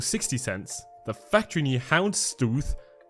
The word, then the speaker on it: Houndstooth: We have the factory new Mechanism for 60 cents, the factory new Houndstooth, that's how you pronounce it correctly, for 70 cents, the